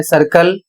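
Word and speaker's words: circle: इन सभी शब्दों में सी के बाद आई ई या वाई आया है, इसलिए सी का उच्चारण सा किया जाएगा।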